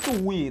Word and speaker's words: Tzuyu: Zuyu itu bacanya cuwi tau. Apa? TZUYU dibacanya cuwi.